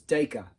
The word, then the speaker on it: Dacre: his name like that Dacre runs with acre but it's daga daga cuz he's Australian so he goes dykey